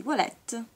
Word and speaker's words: Voilette: Le Voilette, no aspettate, si legge, sì, Voilette, perché la O e la I, vabbè.